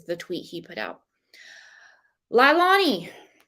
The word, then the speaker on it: Leilani: Tweet he put out lilani and yes I'm pronouncing it that way lie not Leilani anymore named as the prom